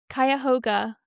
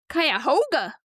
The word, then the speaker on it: Cuyahoga: planet within a dramatic, deep-cut canyon, while Ohio's Cuyahoga Cuyahoga.